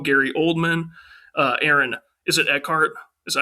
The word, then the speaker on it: Eckhart: Caine, Maggie Gyllenhaal, Gary Oldman, Aaron Is it Eckhart? Is that how you pronounce his last name? Aaron Eckhart, yes sir.